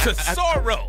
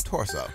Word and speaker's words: Tesoro: How do you say the name again? Tesoro. I kept calling them Torso. You know, I'm from out in that area, man. So Tesoro.